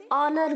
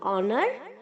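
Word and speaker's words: honour: नहीं होता है बच्चों आज साइलेंट है तो हम इसे ओनर बोलेंगे ऑनर ऑनर्ड ऑनर्स हम अपने घर के मकान मलिक को बोलते हैं ना ऑनर्स आप अपने मन में यही चीज रखिए की आपको ओनर बोलना है जैसे आप अपने घर के लैंडलॉर्ड को बोलते हैं ओनर ओके बस वो चीज मन में रखिए आप करेक्ट प्रोनाउंस करेंगे ऑनर ऑनर ऑनर ओके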